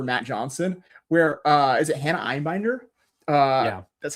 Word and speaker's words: Einbinder: of stand-in for Matt Johnson, where is it Hannah Einbinder?